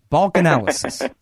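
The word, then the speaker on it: Balkanalysis: few people who actually reads that URL carefully and pronounces it right Balch analysis calm that's what that is when you combine two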